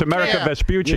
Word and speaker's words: Amerigo Vespucci: It's Amerigo Vespucci.